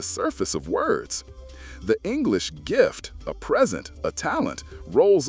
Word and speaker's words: Gift: The English gift, a present, a talent, rolls off our tongues daily, an innocent expression of generosity or skill. The German Gift, however, pronounced much like the English Gift, is unequivocally poison, a venom, a toxin, something lethal.